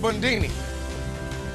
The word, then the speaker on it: Bundini: But do not think Fox is down for the count as Ali's assistant trainer Drew Bundini Brown. I'm called Bundini. Rhymes with Houdini.